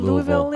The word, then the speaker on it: Louisville: rent is really with Louisville how do you say Louisville in Louisville I just say Louisville Louisville but also you'll catch me say Louisville oh I say Louisville I like Louisville a perfect Louisville I learned how to